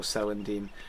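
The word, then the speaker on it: celandine: uh called selendine and it is in fact pronounced with a soft C so selendine Brandy Buck is in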